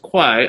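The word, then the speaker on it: 会: because that kwai character is usually pronounced hui but when it's pronounced quai i know it has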